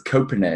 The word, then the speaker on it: Koponen: And it's Koponen. Not many people get that pronunciation right.